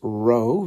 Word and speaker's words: rho: know what Theta is row is spelled rho and F is Phi